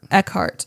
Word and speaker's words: Eckhart: Eckhart.